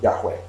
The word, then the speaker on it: Yahweh: In English, it is usually pronounced Jehovah, but some people pronounce it Yahweh.